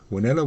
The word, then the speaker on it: Wanela: Wanella was the local pronunciation for the WNLA, the Witwatersrand Native Labour Association.